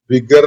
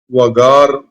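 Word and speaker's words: وقار: ഇംഗ്ലീഷിലെ ഈ വിഗർ എന്ന വാക്ക് ഈ തുവഖിറൂഹു എന്ന പ്രയോഗത്തിൽ അടങ്ങിയിട്ടുള്ള വഖാർ എന്നാണ് അതിന്റെ യഥാർത്ഥ ഉച്ചാരണം. പക്ഷെ ഈജിപ്ഷ്യൻസ് അത് വഗാർ എന്നാണ് ഉച്ചരിക്കുക. വഖാറാണ്.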